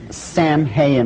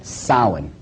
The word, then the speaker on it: Samhain: Now, when you look at the name, it looks as if it's saying Samhain or something like that. No. This is properly pronounced in the ancient Gaelic as Samhain.